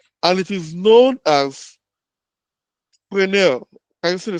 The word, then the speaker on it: Fresnel: So this includes a zone around the visual line of sight, and it is known as Fresnel. Can you see the spelling? That's the pronunciation. Fresnel. So Fresnel zone is an elongated football shape.